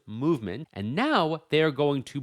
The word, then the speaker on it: MVMT: They call that watch brand Movement, spelled MVMT, pronounced movement, and now they're going to blow it up.